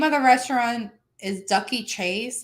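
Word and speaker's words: Dooky Chase: name well the name of the restaurant is ducky chase it's it's spelled dookie chase but it's pronounced ducky chase um the chef's name is uh mrs chase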